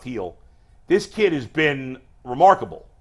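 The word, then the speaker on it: Gil: heel he spelled g it's pronounced heel this kid has been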